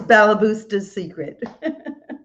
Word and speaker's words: Balabusta's Secret: you so much and you did pronounce it right it is balabusta's secret good so a little